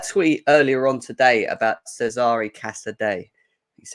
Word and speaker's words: Cesare Casadei: You brought out a tweet earlier on today about Cesare Casadei. is how you pronounce it, even though my Italian's awful.